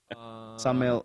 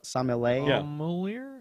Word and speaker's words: sommelier: Sommelier. Sommelier? Yeah, month starts The with an E. Annual Yeah. year. Same year? Can someone do it phonetically? Sommelier. Sommelier.